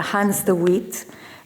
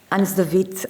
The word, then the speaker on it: Hans de Wit: Uh with no delays uh I'll try to introduce professor uh Hans the wit Hans the vit I think it's uh the the formal pronunciation and it is with